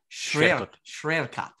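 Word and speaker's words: Świerkot: Schwerkot.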